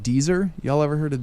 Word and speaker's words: Deezer: it rhymes with Weezer.